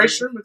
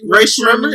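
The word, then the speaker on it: Rae Sremmurd: How you say it? Ray Sherman? It's like drummer backwards. It's drummer's ear backwards.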